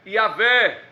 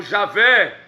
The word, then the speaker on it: Yahvé: Então, mais aproximado é Yahvé, ou Javé, que é o tetagrama, que eu vou repetir aqui: YHWH.